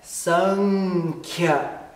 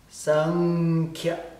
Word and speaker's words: saṅkhya: A pronúncia é Sankhya. Sankhya. Isso no IAST vai escrever S-A-N com um ponto em cima. K-H. Atenção que K-H é uma letra só. Y-O. Y-O também é uma letra só. Sankhya.